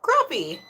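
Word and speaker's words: crappie: Sher said it's spelled crap but pronounced like crappy.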